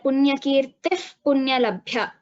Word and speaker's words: पुण्यकीर्तिः पुण्यलभ्या: So here, after the visarga, we have pakara, punyakirtihi, punyalabhya. So this is again pronounced as an ardha visarga. We call this upupadmaniya. Upadmaniya. So here, punyakirtif, punyalabhya. A slight f sound is heard.